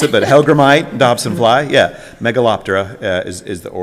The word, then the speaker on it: hellgrammite: It's an hellgrammet, and it's a Dobson fly. Okay, that is correct for 15. The pronunciation was not how I would pronounce it, but Hellgrammite, Dobson fly, yeah.